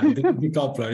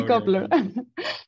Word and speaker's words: decoupler: and differential express genes, also mentioning his tool, Decoupler. Did I pronounce it correctly? It's a hard name. It's a decoupler. You can pronounce it however. Decoupler.